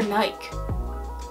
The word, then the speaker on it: Nike: the store mom's like is it pronounced Nike or Naik she said she's like well it's stuff like bike so she pronounced bike